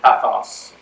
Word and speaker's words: pathos: They're pronounced logos, ethos, and pathos.